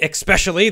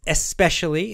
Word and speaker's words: especially: You don't say it especially. There's no K in that word.